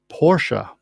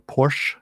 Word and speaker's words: Porsche: championship for which manufacturer porsche or porsche depending on how you want to pronounce it you want to pronounce it correctly c sound i think anyway the answer to